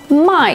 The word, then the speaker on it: 卖: Wherever 卖 is pronounced with a falling tone.